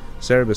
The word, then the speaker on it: Cerberus: I like Cerberus. Cerebus sounds kind of cool too, but I grew up knowing them as Cerberus.